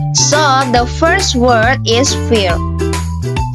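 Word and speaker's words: fare: Dan cara bacanya itu, in general, we call this fear. But in Scottish, we call this word fear. Jadi R-nya itu lebih lembut dan gak terlalu ditekan ya.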